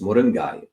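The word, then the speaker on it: முருங்கை: Americans may say moringa or westernist but if you put a Tamil accent it's moringai mingai um uh so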